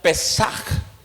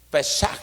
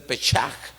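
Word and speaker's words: Pésaj: Es la Pascua, que es una palabra en hebreo, así como se escucha Pesaj, con J al final. Pesaj, que en algunas pronunciaciones es el Pechaj o el Pesaj, es en hebreo, que significa que es Pascua.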